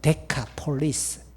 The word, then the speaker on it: 데카폴리스: 마가복음 5장 20절에서 주님의 말씀을 따라 그는 그의 집으로 돌아갔을 것이고 예수의 이름을 전했을 것이고 이방인 지역, 우리 할아버지들 데가볼리로 발음했지만 정확하게 헬라어 원어로 보면 데카폴리스, 데카는 영어로 10을 뜻하는 겁니다.